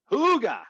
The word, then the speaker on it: hygge: the word that you're the danish word hygge hooga i like it i